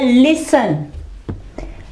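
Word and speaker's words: listen: इसकी एग्जाम्पल है लिसन, लिसन, सुनना, लिसन। ठीक है, अब यहां देखें टी से पहले क्या है, एस, तो हम क्या करेंगे, यहां पे जो है टी जो है वो साइलेंट रहेगा।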